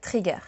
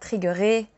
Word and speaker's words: trigger: We will just say trigger and not triggeré ou trigué. Chile, French pronunciation.